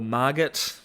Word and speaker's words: Margot: it's either Margo or Margot I think it's Margo the te is silent but it might be